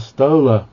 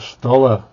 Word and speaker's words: Stoller: It depends how you pronounce it, because roller and Stoller, they look like they ought to rhyme, but roller has it's pronounced with the long O, and Stoller usually with the short O, although I have heard it pronounced Stoller anyway.